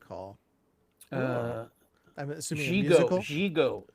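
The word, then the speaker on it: Gigot: What is it Gigo starring Jackie Gleason? Was the first at Radio City Music Hall. I'm assuming a musical. Gigo.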